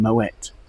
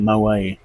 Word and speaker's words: Moët: He was a Dutchman, that's why I'm having to be careful to pronounce the T in Moët rather than saying Moët.